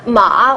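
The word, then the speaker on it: 马: one means mom whereas ma with the third tone means horse isn't that funny are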